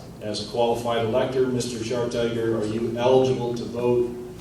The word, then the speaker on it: Schartiger: You pronounced it Schartiger? Schartiger, yes.